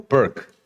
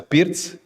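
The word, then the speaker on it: Pirc: I I was curious do people name that opening or pronounce that opening here in in UK in that manner because Vasia Pz Pz was well known Slovenian Grandmaster Yugoslav Grandmaster so not perk but PZ so when I see Gain playing PZ.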